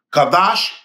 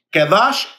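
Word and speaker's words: qadosh: aquí le presento otro nombre más que sería kadash Israel El Santo de Israel kadash que se escribe q a d o s h eh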